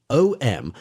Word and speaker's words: Om: The three letters a u and m pronounced in combination as om r are the generalized symbol of all possible sounds.